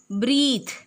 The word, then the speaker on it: breath: While breathe, breathe is the action of breathing, the action of taking air inside. Breathe, we can pronounce it as breathe.